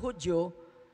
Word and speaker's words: Hudiyo: And then the first time nga nabatian ko ang Hudiyo nga gin-pronounce Hudyo, nagyuhom ko kang nagkadlaw. Hudyo, gali kay sa Tagalog ang Hudiyo, Hudyo. Hudyo.